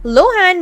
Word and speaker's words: Lohan: i have joined tiktok instead of emphasizing the ah she stressed the o in the first syllable of her last name many followers discovered they